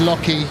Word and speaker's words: Lockie: And then the Lockie Murky, been calling him Lackey all week, but pronounced Lockie Murky.